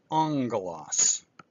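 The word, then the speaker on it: ἄγγελος: sound as in get, but when it's combined with kappa here, ki, or xi, or another gamma, it's pronounced with the n sound, as in angelos.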